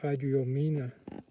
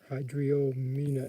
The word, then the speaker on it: Hydriomena: All the pugs are in the genus Epitheca, or Epitheca, I'm not sure how it's pronounced. E-P-I-T-H-E-C-A. And a type of carpet moth in the genus Hydriomena. Hydriomena, H-Y-D-R-I-O, Mena, M-E-N-A, Hydriomena.